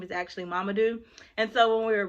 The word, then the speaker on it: Mamadou: if you can see so this name is mamadou and so she broke down mama do and another reason why i love this book my husband my brother-in-law his name is actually mamadou and so when we